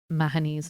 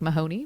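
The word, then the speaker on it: Mahony: Irish accents it's why I know to pronounce mahani's name mahani despite the fact that it looks like Mahoney when written it's great I highly recommend it yeah third place top favorite read of 2020.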